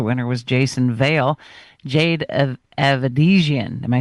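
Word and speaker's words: Avedisian: Jade Avedizian. Am I saying it right, Brian? Yes, Jade Avedizian.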